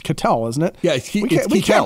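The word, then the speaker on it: Ketel: have done salary RSE right Kel catel it's catel isn't it yeah we can't pronounce any Diamond Backs namel Kel Marte we're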